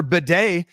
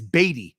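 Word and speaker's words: Badie: The pronunciation sheet provided by the Denver Broncos is Beatty, Tyler Beatty.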